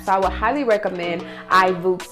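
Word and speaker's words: iVoox: So I would highly recommend iBooks, and it's spelled I-V-O-O-X. So I think that's how you pronounce it.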